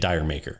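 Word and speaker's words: D'yer Mak'er: No, but isn't it Deermacher or something? So here's the thing, dude. A lot of people just say it Diremaker. Yeah. Like, that's just how they say it.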